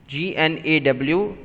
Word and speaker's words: gnaw: Okay, but make sure its pronunciation whenever you are speaking, it's no, like N-O, no. G-N-A-W is also no. So G and W are silent.